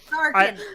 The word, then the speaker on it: Tharkin: where the apostrophe is, her name is actually Tharkin, is how you say that. There's an apostrophe right after the E. It's all one last name. Tharkin.